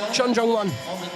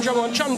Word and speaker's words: Chon Jung-won: So in Korea, you would call him Chon Jung-won. Out here, you can call him Jungwon Chon because that's how we would say his name.